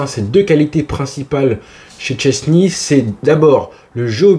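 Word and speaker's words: Szczęsny: le fameux monsieur chesni son nom correctement se prononce VO chensne non Chesny Chesny on va respirer ça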